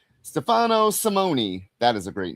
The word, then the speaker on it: Simone: Stefano Simeon did the art. Brian Cunningham, Simone. Oh, there you pronounce the E, huh? Stefano Simone.